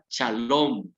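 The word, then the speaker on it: שלום: Esta palabra paz, amados hermanos, en el hebreo se pronuncia shalom.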